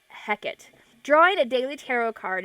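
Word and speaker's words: Hecate: pra into my practice you can pronounce her name as hecky or heckit uh I I've heard both but I actually pronounce it heckit drawing a daily tarot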